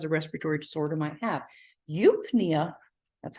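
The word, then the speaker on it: eupnea: someone who has a respiratory disorder might have eupinea that's how it's pronounced is normal breathing no problems okay now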